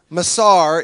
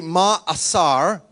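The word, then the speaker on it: מעשר: Now the second word is masar, is how we pronounce it because we're Americans and silly. In Hebrew, it would be ma'asar.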